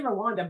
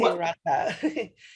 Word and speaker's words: Rwanda: the way, I say Rwanda, but you say different. I say Rwanda. Yeah, that's how the R and W is pronounced in Kinyarwanda.